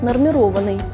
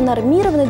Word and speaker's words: нормированный: русского языка но оказывается строго литературной нормы считается вариант нормированный удаление нормированы допустимо лишь в разговорной речи надо сказать что